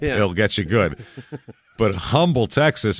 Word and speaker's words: Humble: murder they call it Umble Texas because I don't know they can't read that's all I can imagine he's a big guy 62 is his height but well they don't pronounce the h un unless there's a